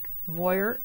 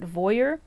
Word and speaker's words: Voir: Okay, on to the next one is Voir Haircare Secrets in the Snow Soft Styling Foam. I think that's how you say it. Voir, V-O-I-R, V as in Victor.